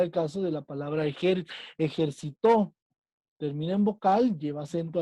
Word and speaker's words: ejercitó: La palabra ejercitó es una palabra aguda porque porque su posición de la sílaba tónica está al último. Juan ya se ejercitó ayer, pero no es